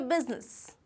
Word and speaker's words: business: इट इज़ नॉट बिजनेस. इट इज़ बिजनेस. बिजनेस. बिजनेस. Again बिजनेस. बिजनेस. तो इसका जो pronunciation है that is बिज and ness. Okay, business.